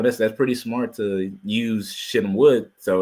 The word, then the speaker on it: Shittim: Yeah, The that's Shittim wood.